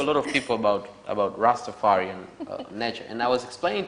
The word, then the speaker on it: Rastafari: Oh, Seba, pronounce Rastafari the way it's supposed to be pronounced. Rastafari. Rastafari.